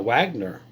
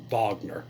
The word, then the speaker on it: Wagner: whole West part now Wagner what they call him Bogner with a say it correctly it's German the Wagner group has